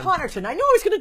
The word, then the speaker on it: Connarton: My guest this evening, Matt Connarton. Did I say it right? Connarton. Connarton.